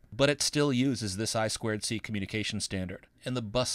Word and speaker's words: I2C: boards the i2c that you see here is pronounced i squ c it's a communication standard for connecting peripherals to